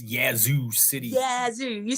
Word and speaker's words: Yazoo City: favorite cities to say because it's yazu City yazo you said it right y yzo City Mississippi